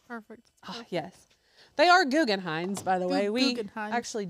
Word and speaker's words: Guggenheim: They are Guggenheims, by the way. We actually do know how to say it. Is it M or an N? N? Guggenheim. Guggenheim. Guggenheim.